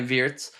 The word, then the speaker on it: Wirtz: I I actually went out of my way to try to make sure I could pronounce our record signings name correctly. And you'll notice I'm not fully there yet. I do drop in. Sometimes I'll say WZ, sometimes I'll say Vertz. I believe Verts is the correct one.